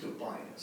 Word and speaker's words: Dobias: appellant and I believe the opposing party is pronounced Tobias goodbye thank you uh